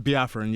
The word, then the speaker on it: Biafran: Biafran, yeah.